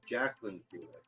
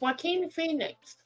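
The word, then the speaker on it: Joaquin Phoenix: spell his name because it doesn't sound like the way it's spelled true it's like Koo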